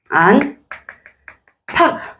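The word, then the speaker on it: 안팎: 추격한다 그래요 피흡으로 추다 그러죠 그죠 자 그러면 안 팍 발음이 안팍 요렇게 발음이 되겠죠 안게 요렇게 되는 것이야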